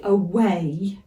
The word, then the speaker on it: away: why is silent so when we say away the last sound is the a I know I keep